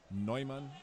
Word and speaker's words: Neumann: Kevin Neumann, or Neumann, as we would pronounce him.